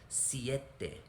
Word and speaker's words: siete: six it was but now the i comes before the e so it is siete you start with the e sound and then go to the e siete ocho make your